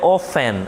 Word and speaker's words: often: vezes enfim o advérbio ofen repare que eu não pronuncio o t tá eu não digo often